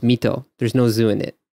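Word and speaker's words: 水戸: there's a town and the kanji for it is mizu it's like it's a water well but it's pronounced mito there's no zoo in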